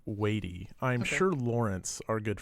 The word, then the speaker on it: Watie: And so I always thought it was Sam Watie, but the narrator pronounced it Watie.